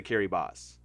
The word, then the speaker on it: Kiribati: made this up but in their language ti is s so like the barthelonians